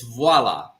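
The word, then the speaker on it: voilà: we at voila W waa yes and so waa it's close bro but in French it's VOA repeat after me and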